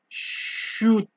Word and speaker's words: chute: So that it is for the CH sound in French, which is pronounced as SH.